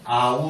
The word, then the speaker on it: Om: 여러분 도 아시다시피 " 옴 " 은 " 아움 " 입니다 . " 옴 (Aum)" 이라 고 쓰여 있습니다 .